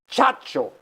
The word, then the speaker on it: Ciccio: I was born baptized Ciccio Chacho CIA C CIO when I went to New